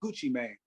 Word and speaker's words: Gucci Mane: Gucci Mane to perform Gucci Mane not man but his main m-a-n-e that's how you I saw you say his name how you spell his name how you pronounce his name Gucci Mane so Gucci Mane had a